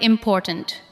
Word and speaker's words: important: Listen to the word important. Important. The second part receives the strongest beat.